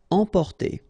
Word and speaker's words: emporter: Emporter, okay, same thing here for the nasal, emporter.